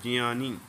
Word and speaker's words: ज्ञानी: है तो अहिंसा अपठित यहां पर हम 40 का ज्ञानी बोल सकते हैं क्योंकि हमने अपना लिया इसको वैसे सही इसका उच्चारण है जियानी अपने कर ही लिया